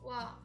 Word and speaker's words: は: It's because if you use this wa as a topic marker particle, then you have to pronounce like wa, not ha.